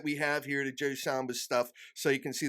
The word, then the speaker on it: Samba: surprised oh man so Joe Samba and I'm pronouncing your last name correctly right Samba yes sir all right that's it so one